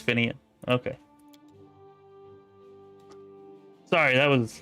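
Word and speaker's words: Finnean: Why is everybody saying Finnegan? Have I been reading it wrong and saying it wrong for all this time? Because I'm pretty sure, like, every single person is saying Finnegan. Okay, it's Finian.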